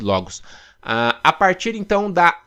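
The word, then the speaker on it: λόγος: Pronuncia-se logos.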